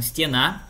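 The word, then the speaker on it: стена: A sílaba tônica ela estava no final ali, ó, stiena, e ficou no meio, stienei.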